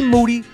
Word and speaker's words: Moody: Me and Moody, last name rhymes with duty.